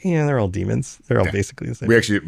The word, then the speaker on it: daemon: it's like, they're all demons. They're all basically the same. We actually, honestly, when I play Warhammer, we pronounce it demon. It's pronounced, it's spelled daemon. We just call it, it's a demon.